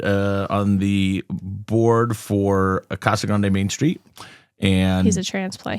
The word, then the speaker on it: Casa Grande: And so sorry, Kessa Grand.